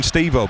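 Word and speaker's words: Estêvão: I still we learn names and I still feel funny calling him Steo, but that is what I've been told it's pronounced.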